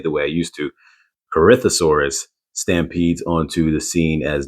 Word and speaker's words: Corythosaurus: pronounce it wrong as Corythosaurus, but it's Corythosaurus. So it's almost as if the O is silent.